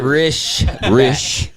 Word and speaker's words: Risch: Is it Risch. Yeah. Rischbeck. And I've known for forever. Oh, and I still don't know how to say his fucking name. It's Risch, bitch.